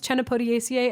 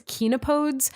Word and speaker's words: Chenopodiaceae: So the plant family, I've heard different ways in which it's pronounced. One is Chenopodiaceae, and that is how I originally heard it. The other one is Chenopodes, and so whatever, hard C, soft C, I don't care.